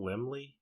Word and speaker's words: Laemmle: Carl Laemmle? Laemmle? I don't remember. I don't think I've ever... Laemmle, but I've read it.